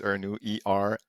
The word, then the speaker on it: Ernoult: And my last name is Ernoult, Ernoult, Ernoult, if you will.